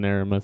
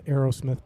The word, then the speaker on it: Aramith: Not an Aramith set, no. Aeromith. I always mispronounce that. I call them the Aerosmith balls.